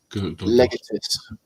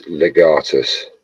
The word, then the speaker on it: legatus: Looks looks nothing like legus. It's legatus.